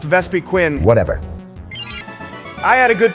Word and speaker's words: Vespiquen: It's pronounced Vespiquen.